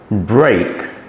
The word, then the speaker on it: break: E and A form the sound of A, as in break, great, steak.